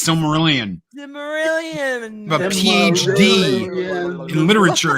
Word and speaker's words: Silmarillion: How can you not pronounce that? It's Silmarillion.